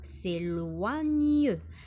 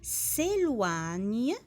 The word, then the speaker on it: s'éloigne: إذن الفيل لا يبتعد s'éloigne G-N-E تنطق نيو s'éloigne jamais A-I قلنا كأنها